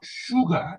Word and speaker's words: sugar: Actually, it is not sugar, it is sh and then ga, sugar.